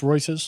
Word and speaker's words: Reuters: what you can see and uh is it reuters is that how you pronounce it it is pronounced reuters yes reuters said no actually there's some misinformation there oh